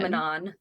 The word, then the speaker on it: Manon: How do you say Manon or Manon? Manon. You say Manon? Yeah. I call her Manon.